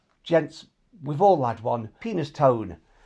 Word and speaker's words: Penistone: Penis Tone. Although it looks how you'd refer to your manhood, it's actually pronounced Penistone.